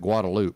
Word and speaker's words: Guadalupe: no I can assure you it the locals pronounce it guadaloop I can assure you yeah I realized it's